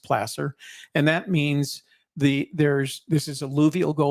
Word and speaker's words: placer: referred to as Placer deposits it looks like Placer but it's pronounced Placer and that means the there's this is alluvial